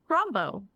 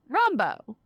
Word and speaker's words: Rombough: Rombough. Rombough. Easy. I was like, I don't think I'm going to pronounce that correctly, but Everyone always butchers it, but it's easy peasy.